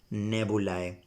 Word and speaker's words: nebulae: Nebulae. I'm going to pronounce that nebulae.